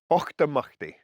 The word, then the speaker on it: Auchtermuchty: So Auchtermuchty is how that's pronounced.